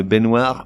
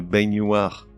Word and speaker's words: baignoire: Une baignoire, mais une baignoire.